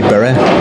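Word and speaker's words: Bury: Is it if there's anybody watching over there in Bur or Berry? Which one is it? I'd say Bur.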